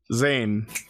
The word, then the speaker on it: Zane: It's pronounced just like the Power Rangers in space character. Zane.